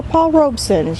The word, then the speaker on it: Paul Robeson: Now, I said these were Paul Robesons. Yes, these are. I was saying it wrong. I was giving it another syllable. It is just Paul Robeson.